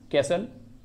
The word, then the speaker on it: castle: कैसल, कैसल में भी T silent है, CASTLE, ठीक ना।